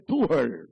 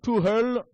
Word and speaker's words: Tuchel: Alors, prononcez Tuchel. Tuchel. En allemand.